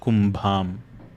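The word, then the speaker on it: कुम्भम्: The first word here is pronounced as Suvakshoja Kumbham. You can pronounce it along after me. Make sure that you're pronouncing that bha as a mahaprana sound.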